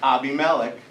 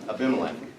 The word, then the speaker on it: Abimelech: It's pronounced Abby Melik, not Aimilec.